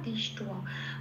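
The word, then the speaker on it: দৃষ্ট্বা: অথ ব্যবস্থিতান দৃষ্টয়া, হ্যাঁ এখানে ব আছে, পেট কাটার মতন ছয়টায় আকারের নিচে ব আছে, বটাকে একটু আলাদা করে ও প্লাস অ হিসেবে উচ্চারণ করতে হবে।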